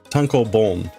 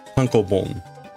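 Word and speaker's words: tankōbon: Tonko boom. Tonko boom.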